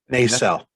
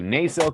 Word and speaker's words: Nacelle: second publishing through uh i can never pronounce they sell thank you nacelle company you know i